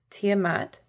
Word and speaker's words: Tiamat: Ancient Mesopotamian dragon goddess, Tiamat. Ah, I did pronounce it correctly.